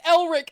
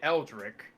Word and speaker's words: Elric: A disturbed-looking Hinata was already talking to Eldrick as she approached him. Elric.